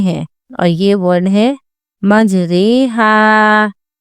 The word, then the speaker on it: مجریہا: اور یہ ورڈ ہے مجریہا۔ اس کی ہجے ایسی ہوگی میم جیم زبر مج، رو امالہ والی رے، مجرے، ہا الف زبر ہا، مجریہا۔ رو کو بڑی یا والی آوازیں پڑھیں گے۔ یہ اکلوتا کلمہ ہے